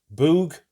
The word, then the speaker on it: Bug: Yes, not Bug. One of my subscribers kindly told me that it's pronounced Boog, so there we go.